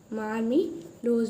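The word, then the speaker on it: marmelos: ठीक है, तो सबसे फर्स्ट है एग्ले मार्मिलोस, इसकी स्पेलिंग थोड़ी सी मिस्टेक हो गई है, इसकी है एग्ले मार्मिलोस। ओके, मार्मिलोस बोलते हैं।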